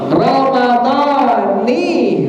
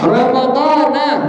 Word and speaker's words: Ramadhani: Nawaitu sauma ghadin an adai fardhi syahri Ramadhani hadhis sanati. Jangan dibaca apa? Ramadhana hadhis sanati. Salah dibaca dengan kalimat Ramadhana.